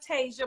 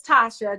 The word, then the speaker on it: Tasia: guys that hey i'm tasha i know it looks like tasia but i promise you it's tasha just you know my